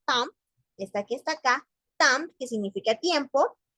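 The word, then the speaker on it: temps: está que está acá tam que significa tiempo no se pronuncia la s porque es una palabra que viene en singular Pero casualmente en francés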